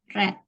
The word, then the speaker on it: read: Bentuk pertama adalah read, bentuk kedua read ya. Caranya sama seperti kamu mengucapkan warna merah, red.